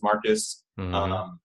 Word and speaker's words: Marquis: work, my name is, it's spelled Marquis, right. But you can still go Marcus with that, right?